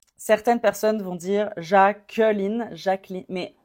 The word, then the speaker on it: Jacqueline: certaines personnes vont dire Jacqueline Jacquel mais ça dépend de l'accent avec mon accent ça serait Jacqueline jacqu l et je m'arrête au N Jacqueline ce prénom était